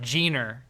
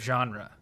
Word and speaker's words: genre: how to pronounce it i said jeaner instead of genre for much of my life that would have taken